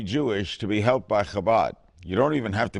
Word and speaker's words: Chabad: Gentiles have trouble saying Chabad. It's the chuch. Habab, how do you say it? Chabad, not habab. Habab? Okay, it's not a rodeo.